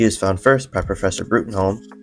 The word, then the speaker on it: Bruttenholm: He is found first by Professor Bruttenholm, pronounced Broom, in the BPRD, the Bureau of Paranormal Research and Defense.